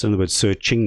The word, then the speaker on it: SearXNG: is I understand because the X I think was said to be a Greek letter pronounced as Ching H hence the search Ching it sounds you know